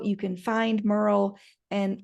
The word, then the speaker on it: Merle: Well, I'll be sure to drop links in the show notes of how you can find Merle. And her name rhymes with girl, and she's great about